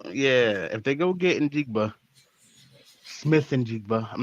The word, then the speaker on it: Njigba: Njiba. Njiba? Njiba. Njiba? Njigba? Yeah. If they go get Njigba, Smith Njigba, I'm not going to disrespect his last name.